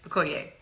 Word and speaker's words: Okoye: Okoye.